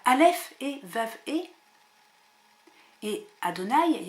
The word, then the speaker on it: Adonaï: parce que en effet les Hébreux les Juifs ne prononcent pas Yahé ils mettent d'autres voyelles de sorte que quand il voit les lettres juives y e vav e il prononce Adonaï et que signifie Adonaï